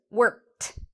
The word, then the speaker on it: worked: Sometimes ed is pronounced like a t sound. So a t sound, a t sound. So for example, worked. So it's not worked, it's worked.